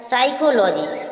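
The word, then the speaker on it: psychology: तो साइकोलॉजी में बोला एस से पहले और एन से पहले प आएगी तो प साइलेंट रहेगी इसलिए साइकोलॉजी में प साइलेंट है न्यू मैट्रिक्स में प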